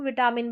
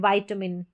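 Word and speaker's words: vitamin: यहाँ देखिए आई का उच्चारण आई, तो इसको वाइटामिन, इसको विटामिन भी पढ़ देते हैं लेकिन वाइटामिन।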